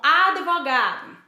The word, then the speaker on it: advogado: O mesmo acontece com advogado. Advogado, o D é mudo. Então, eu não posso dizer advogado com o som vocálico de I, nem tampouco advogado com o som vocálico de E. entre D e V.